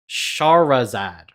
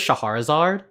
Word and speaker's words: Shahrazad: I've always pronounced this Shahrazad, but then I was listening to the Goldfish podcast, and I realized there's no A between the H and the R, so it's just Shahrazad.